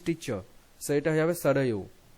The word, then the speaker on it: সরয়ু: So এটা হয়ে যাবে সরয়ু, সরয়ু বা সরজু, তোমার বাংলায় হচ্ছে সরয়ু, সরয়ু করবে উচ্চারণ ওয়াইটা।